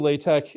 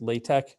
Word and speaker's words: LaTeX: latex inside of google now so anyway google latex it's actually spelled capital a little capital l little a big t little e big x it's pronounced latex not latex okay so there you go uh